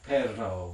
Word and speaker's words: perro: to vibrate and so this is the one i can't pronounce but it's something like perro with imagine me actually successfully completing that trill spanish also has another